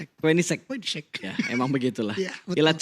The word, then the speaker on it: Koenigsegg: Gue baru tahu cara bacanya kemarin. Apa? Koenigsegg. Mobil hypercar pas ini. Koenigsegg. Koenigsegg.